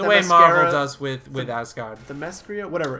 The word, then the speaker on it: Themyscira: I represent the nation of Themyscira. Themyscira! Themyscira? I can't pronounce my own country.